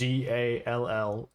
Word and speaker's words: Zallanara: And if you want to write down her name, it's Zallanara.